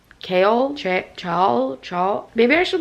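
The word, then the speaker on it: Chaol: to say his name kale ch ch maybe I should look that up I'm really scared I'm going to get spoilers though how to pronounce his name is kale okay I was kind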